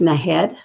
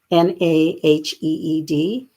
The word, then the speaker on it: Naheed: And he has, if you go YouTube, Naheed, so it's pronounced Naheed, Naheed, last name Nenshi.